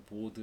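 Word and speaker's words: baud: 비트레이트가 100kbps면 보호 레이트라고 되어 있는데 혹은 뭐 우리나라 사람들 보드 레이트라고도 읽습니다만 이 보가 프랑스 사람 이름이니까 D가 묵음이 되죠. 그래서 원래 보라고 해야 돼요. 근데 뭐 그냥 보드라고 해서 상관없습니다.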